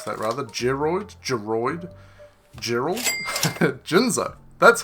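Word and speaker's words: Jinzo: Jinszo. That's how you pronounce it.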